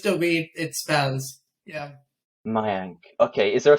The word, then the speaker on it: Mayank: my uncle just to read it spells yeah mayank okay is there a silent k did you pronounce okay as well yes yes we do